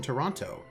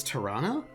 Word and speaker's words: Toronto: Like, you can tell someone is new if they pronounce the toe in Toronto. Really? It's Toronto?